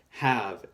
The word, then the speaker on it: have: is a letter missing we have a silent E and it is a tricky silent E because it's one that does not make the a say a this e is just there it doesn't do anything it just sits there so have h AV